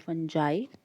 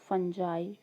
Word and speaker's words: fungi: about ferns lichens and fungi fungi fungi or fungi uh all these pronunciations are acceptable but before we discuss